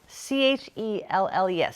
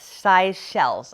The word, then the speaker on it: Seychelles: They are by, and I cannot pronounce this, Seychelles, size shells, I think is how you pronounce it.